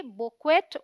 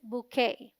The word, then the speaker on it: bouquet: अगर आप स्पेलिंग देखें तो आप इसे पढ़ेंगे बुक्वेट और बुकवेट में भी, लेकिन दोनों ही इनकरेक्ट प्रोनाउंसिएशंस हैं। BOU sounds like boo, rhyming with shoe.